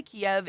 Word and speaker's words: Kiev: minute conversation about it he actually taught me how to pronounce kiev apparently kiev is the russian pronunciation and the ukrainian way is actually closer to t eve wait how would i